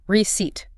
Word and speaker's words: receipt: Receipt. Don't pronounce the P.